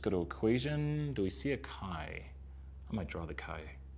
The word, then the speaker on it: chi: does the chi-squared look a lot people say chai squared but it's actually kind right here and so let's write it first it's spelled CH I but Mara it's not chai its Chi square so chi-square test statistic